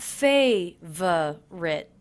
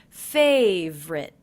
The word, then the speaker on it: favorite: I notice that I'm dropping the middle unstressed syllable in favorite. So it's not favorite, but simply favorite.